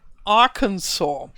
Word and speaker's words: Arkansas: it correctly this Arkansas for me it's very very strange to say something that is written like Aransas like Arkansas but I'm yeah I have heard it in some videos and Google translate told me yes I should pronounce it in a way I would never guess to pronounce it yeah and that makes